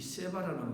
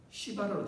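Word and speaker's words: שבע: 우물 안에 맹세, 아니면 또 이 세바라는 말이 시바라로 되면은 저 발음을 조심해야 되는데 이 히브리 말에 세바는 그 약속이 약속, 세바 약속. 그런데 시바 우리가 잘못 발음해서 시바라고 말하거든.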